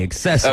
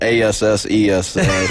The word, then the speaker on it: accessory: The correct way would be accessory. Okay, I just making sure I wasn't wrong this whole time. How am I pronouncing it? Accessory. Oh yeah, it's not a ASSES.